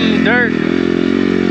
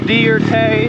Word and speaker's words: Dierke: but i wish and my name is dierke it's pronounced dear tay it's fancy like that not dirty dirt deer kay give it a